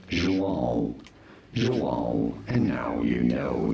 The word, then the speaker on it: João: In Brazil, it is said as João. Very straightforward. Once you know João, in English it is usually pronounced as João, but in Brazilian Portuguese, João.